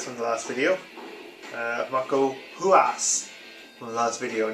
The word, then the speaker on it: Ruas: Tito Ortiz, Maurice Smith from the last video, Marco Ruas from the last video, not Ruas. The R is pronounced as an H in Portuguese, or Brazilian Portuguese anyway.